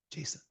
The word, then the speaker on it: JSON: it's Jason he goes it's Jason it's like the name it's not Json it's not French okay although it sounds